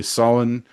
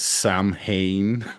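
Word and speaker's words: Samhain: Um, Amina, when you say sin, uh, that's what other people might recognize as Sam Hayne, right? Yeah. It's not pronounced Sam Hayne.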